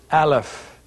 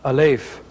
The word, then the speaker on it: Aleph: of the Hebrew alphabet the phonetic way to say this in Sephardic or Biblical Hebrew which is what we're learning in this course as compared to modern Hebrew is Aleph today you would hear the sound a leaf but we are speaking Sephardic Middle Eastern Biblical Hebrew so our pronunciation for this letter is Aleph Aleph as a word